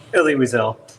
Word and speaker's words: Elie Wiesel: They received the Eli Wiesel Award. Do I have that right on the pronunciation? Elie Wiesel.